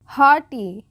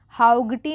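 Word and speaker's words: haughty: बट the night was हॉटी, हॉटी, हाउगटी नहीं, जी एच जो है ये साइलेंट हो जाएगा, हॉटी।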